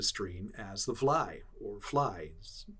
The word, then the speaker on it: vly: The Dutch referred to the valley made by the stream as the Vly or Fly. The Dutch called it v-l-y. It's pronounced, kind of, fly.